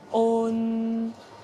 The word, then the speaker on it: on: On est une voyelle nasale. Il existe des sons similaires en anglais dans les mots uncle et song, par exemple. Pour prononcer on, commencez par dire O, puis ajoutez le son N en l'allongeant et en le fredonnant. Essayez de répéter cela en raccourcissant le son petit à petit.